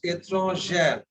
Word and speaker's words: étrangère: There, if you see, two E will come, the second E is not pronounced. Okay. Now you see an example. Étranger means foreign. Étranger. Now it becomes étrangère. Étrangère. The second D is pronounced. It ends in the R.